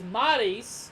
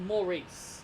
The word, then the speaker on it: Maryse: It's Maryse, not Maurice."